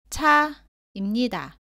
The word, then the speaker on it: 차: 다음은 자, 짜, 차입니다. 모두 자와 발음이 비슷한데 짜는 자보다 세게 발음하고 공기가 나오지 않습니다. 차는 자보다 공기가 많이 나옵니다.